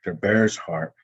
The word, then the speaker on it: Bear's Heart: we're highlighting three cheyenne artists and they're they're bear's heart no that's how we say his name knuckles